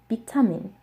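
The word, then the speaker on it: 비타민: It's pronounced vitamin, vitamin, vitamin. So like I just mentioned, they do not have the V sound, so they use the B sound, and this is just another example of it.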